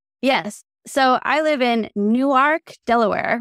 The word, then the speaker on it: Newark: So I live in Newark, Delaware, which is spelled like Newark, New Jersey, but it's actually Newark. because when they made the map to the northern part of Delaware, it was drawn with a compass to make an arc.